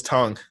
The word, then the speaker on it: Tagovailoa: It is tongue. There is no N in his name, and yet you pronounce it with an N.